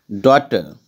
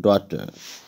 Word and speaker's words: Daughter: Daughter, actually here G and H both remain silent. So both has been underlined. Daughter.